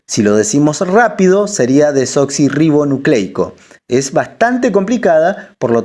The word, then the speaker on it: desoxirribonucleico: Quiere decir desoxirribonucleico. Si lo decimos rápido, sería desoxirribonucleico.